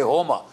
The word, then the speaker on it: Homa: In Iranian, in Persian, you don't pronounce the S, you pronounce it as H. When we say Soma, they say Homa. When we say Dasa, they say Daha. Right? And when we say Asur, they say Ahur.